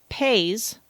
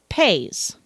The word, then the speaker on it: pays: six months of French I pronounced pays country as I would pronounce pay in English. Well thankfully one of my language exchange partners informed me that I was saying pet fart instead of pays.